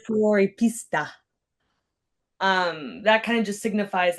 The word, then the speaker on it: Fuoripista: Am I pronouncing this correct? Floripista. Fuoripista.